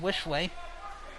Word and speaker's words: Wishley: I'd like to thank Coach Wishley for notifying us that her last name is pronounced Wishley.